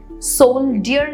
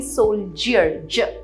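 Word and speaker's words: soldier: सोल्डियर नहीं, सोल्जियर, ज sound है वहां पे।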